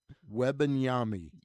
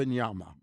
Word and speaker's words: Wembanyama: Um Victor Wembanyama. No. Yama. No. That Wembanyama. Uh you still missed the middle part of the syllable, but yeah, that was close. Wembanyama.